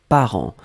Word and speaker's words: parents: Donc le deuxième mot, c'était parent. Parent, on l'écrit au pluriel ici. P-A-R-E-N-T-S. D'accord? Parent, on ne prononce pas le T, on ne prononce pas le S, comme d'habitude.